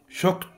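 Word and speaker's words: shocked: كروس وك كروس وك شكت مصدوم طبعا هنا اي دي ولكن انتهى الصوت بد بك فطبعا بنقول على الاي دي ت يبقى شكت شكت شكت شكت شكت اكسترا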